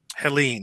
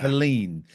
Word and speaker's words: Helene: Because that, how do you pronounce it? Helene, yeah. Helene.